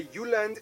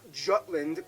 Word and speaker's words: Jutland: I'm going to pronounce the location names in their proper Danish context. So here we go. Denmark is made of the Jutland, not Jutland, peninsula that connects to